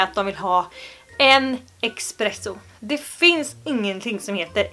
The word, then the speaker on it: espresso: så beställer du en espresso. Inte X. Espresso.